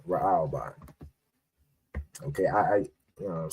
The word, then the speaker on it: Raahwban: All right, so Reuben in the Hebrew would be Ra'alban, right? So that would be I spell that, it would be RAAHWBAN, right? Ra'alban.